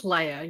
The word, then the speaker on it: Leia: then I get messed Princess Leia you're good yeah think Luke and Leia Leia so Leia is